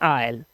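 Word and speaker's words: aisle: जैसे ये वर्ड है इसमें एस को पढ़ना नहीं है इसे पढ़ते हैं आयल ठीक है गलियारा के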